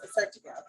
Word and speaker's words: Assyrtiko: So when you would see Assyrtiko, it's spelled, I'm looking at the bottle, Assyrtiko, and it's pronounced Assyrtiko.